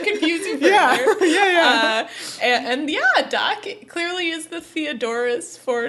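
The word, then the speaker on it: Dach: His name is Doc. Mm-hmm. It's spelled D-A-C-H, but still, I was just like, what's up, Doc?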